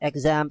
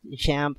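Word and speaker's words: XAMPP: uh pronouncing the name some some people call it examp some people call it shamp some people me personally before I call it zamp so but don't worry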